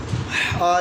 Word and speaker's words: ح: جیم، جیم شاباش بیٹا۔ ہا جو ہے یہ حلق سے ادا ہوگی بیٹا، بڑی احتیاط کرنی ہے، ہا جو ہے اس میں اکثر تلفظ میں غلطی کی جاتی ہے۔ آ ہا آ ہا